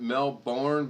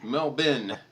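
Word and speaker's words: Melbourne: he's in Australia oh I would pronounce it melbourn but I believe it's melbour or how do you say it black watch melin melbin melbour melbour melin that's why I don't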